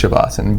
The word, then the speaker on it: Savasana: God Shiva sand okay Indians in their culture they don't pronounce the A's at the end so all in Western culture roots ish of asana but I its shavasan but space they just